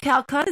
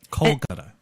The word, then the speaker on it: Kolkata: Calcutta? Oh, Calcutta. Is that how you say it? A Calcutta prostitute. No, it's Phenomena. Well, shut the fuck up. Because look at it says India, Kolkata. Kolkata.